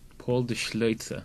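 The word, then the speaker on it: Paul de Schlözer: Paul de Schleitzer. Yes, you pronounce it well. That's why I asked you. I just say de Schleitzer.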